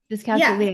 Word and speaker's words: dyscalculia: yeah, Dyscalculia.